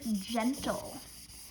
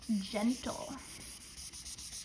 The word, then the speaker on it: gentle: Next is the word gentle. Gentle. 3, 2, 1, and 0. Gentle. So now we have giant at the beginning. Gen, and then tul.